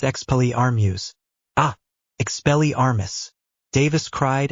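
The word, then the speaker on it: Expelliarmus: Exel Armas. Nothing happened. Davis frowned and looked at his wand. What did I do wrong? You said it wrong, Harry said. It's expell Armuse.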